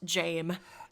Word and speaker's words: Jame: it's it's worse but his name is actually just Jame I see I thought